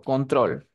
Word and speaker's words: control: yo tengo siguiente Pregunta control Dónde tiene la fuerza de voz en con trol control en trol muy bien y viajar Dónde tiene